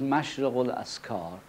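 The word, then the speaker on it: Mashriqu'l-Adhkár: Naturally you realize that it is difficult for a person who does not speak the Arabic language to pronounce the word Mashriqul Askar precisely. So, anyway, the right one in Arabic is Mashriq al-Askar, or the dawning place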